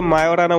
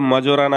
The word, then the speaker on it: Majorana: सबसे पहले ये मायोराना 1 चिप है क्या? वैसे इसको पढ़ते हैं तो मजोराना होता है, बट इसका नाम मायोराना है क्योंकि इसका जो जे है वो साइलेंट है।